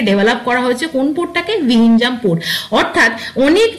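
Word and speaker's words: Vizhinjam: জেড কে কিন্তু silently আমাদের silent থাকবে ইন দ্য প্রোনাউন্সিয়েশন হবে কিন্তু ভিনজাম পোর্ট।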